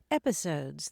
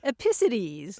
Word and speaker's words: episodes: Yeah, I finally figured out that she was mispronouncing episodes as epicides. Oh, epicides, there we go. Putting the emphasis on the wrong syllable.